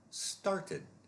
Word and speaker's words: started: Started, started. Started ends in a T, so again, the ED is a separate syllable, and that is the id sound.